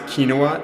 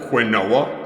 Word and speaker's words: quinoa: Remember when you pronounce kinoa as quinoa?